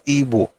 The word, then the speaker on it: Igbo: It's still IBO, and I pronounce it as Igbo. In fact, this is my own way to protest that your stupid Igbo or Igbo nonsense that you guys are doing. It is IBO, but the pronunciation is Igbo.